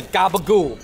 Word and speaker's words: capicola: all right i'm excited about this next sandwich okay it's called the gabagoo but that is the italian-american way of saying it right uh yes that